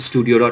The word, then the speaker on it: stdio: include uhud studio uh I will pronounce it studio.